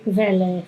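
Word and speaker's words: Quelle: Así es, es como si estuviéramos pronunciando como una K y una V, una V corta.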